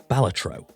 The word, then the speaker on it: Balatro: It's Balatro. Although, I've heard it's supposed to be pronounced Balatro.